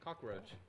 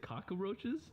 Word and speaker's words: cockroach: Cockroach. Cockroach. It will be cockroaches and Gen 1 Raptors. Did you add an extra letter to cockroaches? You said cockaroaches?